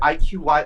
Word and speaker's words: iQiyi: The way I've always heard it pronounced, like within like most Chinese people, is like iQiyi, which is probably the more accurate Chinese-y way to pronounce it.